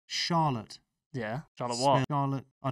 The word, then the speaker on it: Charlotte: You said chic. It's more like Shah. Charlotte.